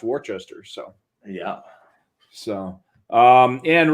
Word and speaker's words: Worcester: or worcester but it's warchester that's western you go down to maryland and only you know a couple hundred miles away and it is actually pronounced warchester so yeah so um